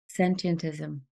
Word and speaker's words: sentientism: isn't it I think if you say sentient and then just add ISM on the end it's okay but it does have too many syllables sentientism sentientism yeah some people